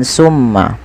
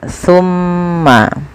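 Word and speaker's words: ثُمَّ: Hati-hati teman-teman dalam pelafalan sa, jangan sampai dibaca dengan sin ya. Jangan dibaca dengan summa, tapi dia summa, pakai sa, bukan pakai sin ya.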